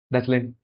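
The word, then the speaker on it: Deutschland: डॉचलैंड, या हाँ डॉचलैंड प्रोनाउंस करते हैं।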